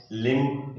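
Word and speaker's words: limb: लिम्ब, इस बी को भी प्रोनाउंसिएशन नहीं किया जा रहा है यहाँ पर।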